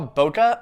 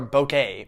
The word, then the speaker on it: bokeh: term too which we call bokeh or bokeh whatever way you want to pronounce it there's really no right way bokeh is simply put